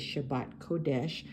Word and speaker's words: Shabbat kodesh: on them which uh Shabbat means Sabbath and kodesh means holy and that's how they say it in Hebrew is Shabbat kodesh but in English we switch it around and we say holy Sabbath.